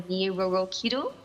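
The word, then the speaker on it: Nyi Roro Kidul: Someone called the Nyi Roro Kido. I hope Yeah. I'm pronouncing that Kido.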